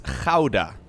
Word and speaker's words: Gouda: da right uh so the way you would actually pronounce this in dutch is hauda hauda which i think is pretty much impossible to pronounce unless you're born here so i can't blame you for making it gouda but like ah yeah